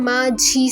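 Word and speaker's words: 맞이: है एग्जांपल माजी माजी अब इसमें लिखा तो ऐसे गया है कि मा और नीचे लिखा हुआ त बट जस्ट बिक उसके फॉलो अप हो रहा है ई से वह प्रोनाउंस करते टाइम माझी साउंड करेगा माझी क्योंकि रूल ऑफ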